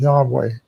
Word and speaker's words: Yahweh: The best educated guess that the majority of scholars agree on is Yahweh.